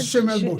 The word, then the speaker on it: Schimmelbusch: How do you pronounce that word? Schimmelbusch.